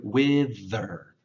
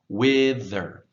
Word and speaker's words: wither: Let's practice that word wither, wither. For those of you who have taken my classes in person, you know that one of the best ways to practice the TH sound is to put your